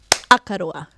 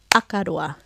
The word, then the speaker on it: Akaroa: I'm just going to say them out loud so you can hear with a clap where that stress is. Akaroa, Akaroa, Wairarapa, Wairarapa, Taratahi, Taratahi, Whakaoriori, Whakaoriori.